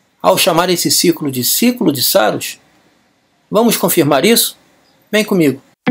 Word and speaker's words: Saros: Saros vem do grego saru, que significa Saros, pronuncia-se Saros, né?